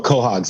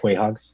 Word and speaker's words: quahogs: you know ball Hogs oh quahogs yes yeah or if you spell it or say it as it's spelled Quay hugs yes yes but all